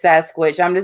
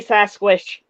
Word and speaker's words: Sasquatch: I know she says Sasquatch. I was just gonna let it go. Oh, I always say that. I always say Sasquish. Okay. Sasquatch. I know it's Sasquatch.